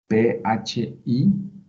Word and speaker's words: phi: Este símbolo griego se puede poner como PHI y se pronuncia phi.